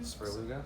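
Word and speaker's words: Svrluga: Sperluga.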